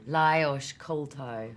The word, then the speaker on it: Lajos Koltai: And how do you pronounce the director's name? Lajos Koltai.